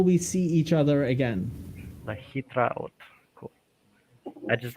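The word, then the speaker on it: להתראות: lehitraot. Lahitraot, that's what I'm supposed to remember. Okay. Yeah, so that means until we see each other again. Lahitraot.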